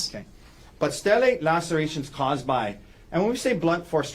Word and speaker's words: stellate: And am I pronouncing that right? Stellate.